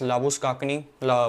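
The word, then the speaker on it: Labuschagne: the list is Manas लाबु शेन ऐसे ही pronounce करते ना भाई इसके सरनेम को लाबु शेन या शने लाबु काकनी I think the correct pronunciation is लाबु स् काकनी मानस लाबु शेन इ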